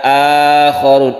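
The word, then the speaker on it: آخرون: Jadi membacanya bukan akharun asli katanya itu, tapi membacanya itu sudah diganti mad akharun.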